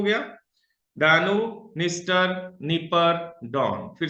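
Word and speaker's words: Dniester: ये 4 नदियां हैं, पहली हो गई डैनूब, पहली हो गई डैनूब जो सबसे बड़ी नदी है, दूसरी हो गई निस्टर, ये डी साइलेंट है, निस्टर, इसको निस्टर पढ़ेंगे।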